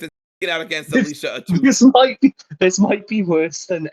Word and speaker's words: Atout: speaking out against Alicia Atout. This might be worse than every time I've made you say Lofty Tannis Del Aire. Look, it's how they say it, and it's what a toot is.